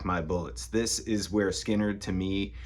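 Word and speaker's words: Lynyrd Skynyrd: Everybody always talks about pronounced Leonard Skard, the first album, and you know, Street Survivors and Second Helping. I really like Give Me Back My Bullets. This is where Skinnard to me sounds the most like the Rolling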